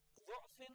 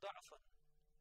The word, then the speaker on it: ضعفا: So the word du'afin or du'afan, both examples are, they can be traced from the text of the Holy Quran. So that both tradition with du'afin or du'afin are right, and the that tradition which practice da'afin with fatha, that word, and this is one example.